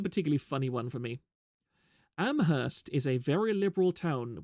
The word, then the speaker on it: Amherst: see the problem already a joke you hear a lot is that in Amherst only the H is silent it's a town known